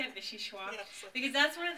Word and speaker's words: vichyssoise: And Frances, I'm glad you said vichyssoise. Is that how you say it, vichyssoise?